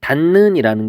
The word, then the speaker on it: 닿는: 그 다음에 있던 거는 닿는이라는 게 있었어요. 닿는은 발음으로 해보면 어떻게 되냐면 닿는이 돼요.